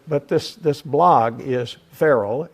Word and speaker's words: Ferrell: it for you right it's feral you ever heard of will Ferell you shouldn't have any problem okay my name is frell that's true true so but but this this blog is feral f e r r